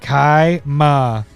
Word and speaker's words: Kaima: Pronounce it this way. Kaima.